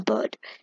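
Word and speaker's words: Byrde: Like, if Maggie, maybe there's something about surname, and I checked and when seeing it's pronounced as bird.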